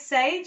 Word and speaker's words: Saije: yeah our name is sage it's pronounced like the herb but we do spell it differently so we have this